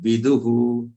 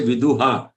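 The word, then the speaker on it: विदुः: V and du, both of them are short one. Viduhu. And the visarg has to pronounce, you see, vidu, because the visarg is on a letter which has a vowel u. That's why that visarg pronunciation has to be hu. Don't say viduha. Viduhu.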